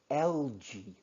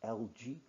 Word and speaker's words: algae: Algae, this is pronounced algae. Uh, Algae, I'm not sure whether it's right pronunciation. It's understandable, but the correct one is algae.